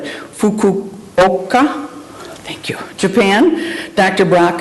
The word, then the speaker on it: Fukuoka: Brock, if I mispronounce this, I hope I do it right, Fukuoka, thank you, Japan.